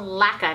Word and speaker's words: LAQA: how to say it laqua laa damn it I forgot laa laa it's called laca now I know laca and Company so it's